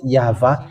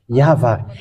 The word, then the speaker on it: YAHVAH: of tat which says that we call it yava and how that's how we read it in heaven of heavens yava and those who call that yava they washed away from their sin and they